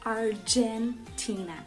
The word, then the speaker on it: Argentina: O G deles é pronunciado com J, então por isso Argentina, ok?